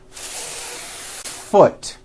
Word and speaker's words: foot: need to do first think of the word as having two beats one two hold the F sound for the First full beat foot like that do it